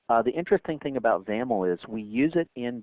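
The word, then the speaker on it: XAML: is determined by the zaml um by the way zaml X m l is the is the acronym there and that's pronounced with a you know rhyming with camel so let's go ahead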